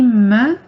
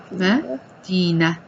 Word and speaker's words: مدينة: So it would just be مدينة. مدينة. And you're not pronouncing the t, period.